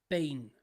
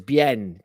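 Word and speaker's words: Biehn: I actually pronounce him as Bien because it's an I, but on interviews he's been known to be Bean, which is like Sean Bean, isn't it?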